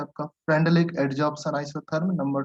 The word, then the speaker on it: Freundlich: नाम क्या है इसका? फ्रेंडलिक। FREUN। फ्रेंडुलिक, जो भी आप प्रोनाउंस कर सकते हो। DLICH, फ्रेंडलिक adsorption isotherm.